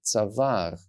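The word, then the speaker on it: צוואר: Now, because there's an Aleph here, I know that I'm supposed to pronounce the sound A in the middle of this word, tzavar, which means neck, which gives the word the meaning neck.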